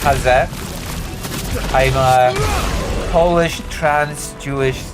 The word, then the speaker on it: Haze: It's pronounced Haz.